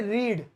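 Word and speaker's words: read: ऐसे रीड, रीड की second form क्या होती है? रेड। लेकिन वो जो है लिखने में रीड ही होती है, स्पेलिंग एक होती है, बोलने में थोड़ी रेड होती है।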